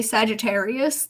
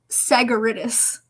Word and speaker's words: Sagittarius: everything and i'm assuming she was trying to say sagittarius like oh we're in sagittarius season now but she said sagaritis sagaritis so giving it a hard g that but like she